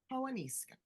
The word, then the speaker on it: Paonessa: I got Tara Paonessa.